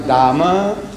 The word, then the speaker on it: Dame: They pronounce Dama and H-E-R-E.